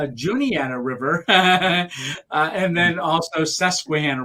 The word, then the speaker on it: Juniata: let you know you're gonna cross the it's pronounced Juniata River and then also Susquehanna River so when you get to those uh a lot of people will say Juanita yeah we think this is how it's pronounced